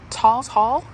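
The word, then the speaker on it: Tawes Hall: Talls Hall, I believe it's pronounced.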